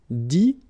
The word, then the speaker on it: dit: Dire, ire as well, will give you dit, same thing here, it, but then you pronounce it i, okay.